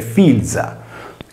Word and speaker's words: filia: Il sostantivo figlia si deve pertanto leggere filza. In questo caso filza equivale al sardo logudorese